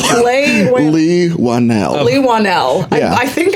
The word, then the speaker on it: Leigh Whannell: Inside the Actors Studios' James Lipton, and also Leigh Whannell's deal with Blumhouse.